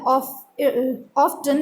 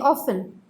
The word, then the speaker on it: often: Here often, we cannot say here often, we have to say here often. So it is T is silent.